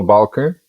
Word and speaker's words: Balke: Uh my name is Balker. That's how we say it in my language.